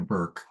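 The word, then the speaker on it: Hannah Bork: Uh, Hannah Han n a h Bork, but it's actually pronounced Burke, but it looks like Borc.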